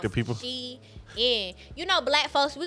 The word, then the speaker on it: Shein: people pronounce Sheen. Yeah, so but Shein did a whole thing, and they said, y'all, it's literally They pronounced corrected people? Shein.